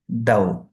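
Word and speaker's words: دَوْ: And if you will read it like dal, wow, fatha, dav, this is also wrong. But the correct pronunciation is daw, softly.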